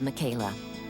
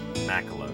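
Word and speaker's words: Makela: to go bone hunting with his friend Bob Michaela. Bob Melo. Macelo is how you pronounce it.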